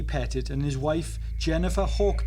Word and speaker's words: Petit: I have heard some people refer to the family as the Petite family, but the correct pronunciation of their name is Petit.